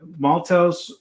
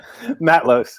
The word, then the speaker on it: Matlosz: But first and foremost, let me welcome director Jason Tobias and cinematographer Maltos. Gentlemen, how are you doing? I said it wrong. Say it for me. Matlosz.